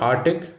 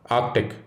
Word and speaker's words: Arctic: It is not Arctic, rather Arctic. Another hard to see C, but it is there.